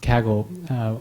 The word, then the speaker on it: Kaggle: where I'm from originally the company has always pronounced Kaggle which is much less awkward than the American pronunciation Kegel which sounds a bit like pelvic floor exercises so I've come to